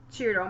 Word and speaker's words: Ciro: And we have confirmed that this creator is Italian, so the pronunciation is Ciro Marchetti.